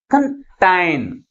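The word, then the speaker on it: contain: అర్థమవుతుందా next one ఇస్ కంటైన్ కంటైన్ అంటే second syllable ని ఫస్ట్ సిలబుల్ కంటే ఎక్కువ ఫోర్స్ గా పలుకుతున్నాం కాబట్టి ప్రైమరీ స్ట్రెస్ ని ఎక్కడ ఉంచాలి టైం టి ముందు ఉంచాలి అర్థమవుతుందా అంటే ఏదైనా ఒక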